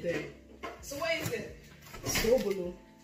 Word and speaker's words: Sobolo: Zobolo. Why is it Zed? Why is it not Zo? Who said it's Zed then? So what is it? Sobolo.